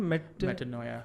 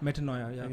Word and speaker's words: Metanoia: And how do you pronounce the name? Metanoia. Metanoia.